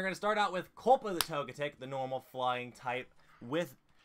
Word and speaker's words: Togetic: I think I said togetic I might brother Sawyer said toga dick and he's like all right over pronounce a ting the T so it comes out as togetic you know you have